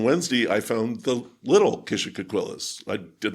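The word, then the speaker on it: Kishacoquillas: How do locals pronounce that? Kishocoquillas.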